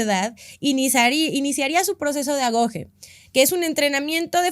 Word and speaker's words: agoge: Se escribe agogue, pero descubrí que se pronuncia agoge y pues bueno, yo no sé griego, pero no quiero quiero hacerlo lo mejor que pueda.